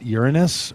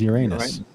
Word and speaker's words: Uranus: giggling junior higher as uranus you can do either one you're free to choose and you'd be correct according to the dictionary either way really so it has